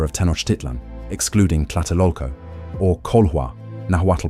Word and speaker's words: Cōlhuah: to the Mexica of Tenochtitlan, excluding Tlatelolco, or Colhua, Nahuatl pronunciation, Co.Lwa, referring to their royal genealogy tying them to Culhuacan.